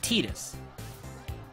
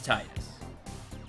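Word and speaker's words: Tidus: they they made it teenis so if you hear me go back and forth that's why I always thought it was Titus and then they made it teenis however you want to pronounce it I feel both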